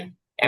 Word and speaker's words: wipe: wipe. American এবং British দুই উচ্চারণই ওয়াইপ।